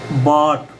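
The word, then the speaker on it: bought: अब जैसे बाट बाट बी के बाद ओ यू जो आया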